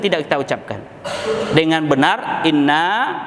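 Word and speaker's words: إِنَّا: Inna, panjangkan sedikit, jangan tidak kita panjangkan karena maknanya berpengaruh.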